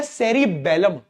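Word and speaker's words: cerebellum: पोर्न्स है, एक है सेरीबेलम। बेलम, यहां पे भी स्पेलिंग पे गौर फरमा लेना। सेरीबेरम नहीं है। बेरम तो वह था थिंकिंग पार्ट। यह बेलम है। बेलन बेलन बेलम हां।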